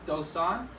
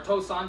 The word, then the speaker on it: Dosan: Today we're going to be covering a little bit more of the Hyung Dosan, or Tosan, depending on how you pronounce it.